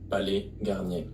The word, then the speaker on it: Palais Garnier: Okay, so we have Palais Garnier. What? First S at the end of Palais should be silent, and Palais. the final Palais. R at Garnier as well. Garnier. Palais Garnier.